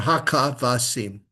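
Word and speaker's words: הכבשים: or hakavasim. Or Hakavasim. Hakavasim. Not haka, haka, ka, no sound. Haka, it's a silent vowel with a dagesh. Hakavasim. Okay, so ha. Not hawk. Hakavasim. One, two, three, four syllables.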